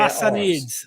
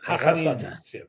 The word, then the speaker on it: Ghassanids: It's like it's not a sound you have in the English language. Yeah. But you pronounce it way deep, like the French would pronounce their Hassanids. Hassanids.